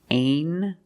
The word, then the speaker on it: angel: Together with the N, a regular N sound, not the nasal but the regular N. Angel. Angel. Angel. This is an angel.